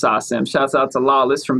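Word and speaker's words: SACEM: every country it's awesome i thought it was sakum for the longest time because there's a c in there but then my my french homie lawless told me it's actually pronounced sasam shout out to lawless from bounce gang it's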